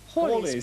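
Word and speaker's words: Halley: business in preparation for what some people call Haley's and other called hallies but we're told we should call holy comment Paul is Comet yes that is the correct pronunciation was first seen in the year 240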